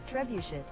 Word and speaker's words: trebuchet: whatever all right so let's uh use our trebuchet to kill but you want one and then